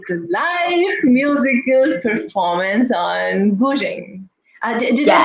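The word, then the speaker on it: guzheng: We are going to begin with the live musical performance on Gu Zheng. Did I pronounce it correctly?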